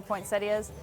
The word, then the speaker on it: poinsettia: One other misconception the Duartes like to point out is the pronunciation of the plant. Poinsettia or poinsettia? Either way. Either way.